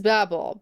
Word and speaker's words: Babel: It is Babel, but for some reason they pronounce it Babel.